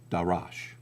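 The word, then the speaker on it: דָּרַשׁ: they're vocalized a little differently uh and they're pronounced darash.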